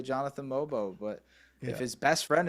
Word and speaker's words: Mogbo: him oayabaji and uh mobo if they if they don't if they say mobbo or uh ai uh abaji or something like that then you know they they haven't watched a game although you know